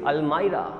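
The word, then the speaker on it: almirah: Exactly the pronunciation of अलमारी इज नॉट अलमारी, इट इज अलमायरा।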